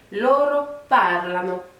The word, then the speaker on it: parlano: Donc pour la dernière personne, donc pour il au pluriel, on va accentuer un petit peu plus la première syllabe. Donc là, ça va donner loro parlano.